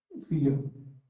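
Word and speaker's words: fille: हां, फी-युह, एक लंबी "ई" ध्वनि और "युह ," फी-युह। जिसका अर्थ है बेटी या लड़की, दोनों का उच्चारण "फी" होता है, लेकिन कभी-कभी फ्रांसीसी लोग "युह" तक नहीं जाते , रविंदर, वे "फी" पर ही रुक जाते हैं। फी या फी-युह, दोनों ही ठीक हैं।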